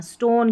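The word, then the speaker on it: stone: यहाँ पर देखिए ST स्ट है, स्ट, और O को यहाँ पर ओ पढ़ना है, अ नहीं पढ़ना, स्टोन, क्योंकि आखिर में ई है ना, इसलिए इस ओ को ओ पढ़ना है।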